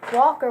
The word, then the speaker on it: Walker: I am very talkative Walker rhymes with talker that's my last name